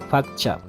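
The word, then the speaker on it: pakcha: de la misma manera se escribe con p pero la pronunciación es con efe facha cascada entonces tengo a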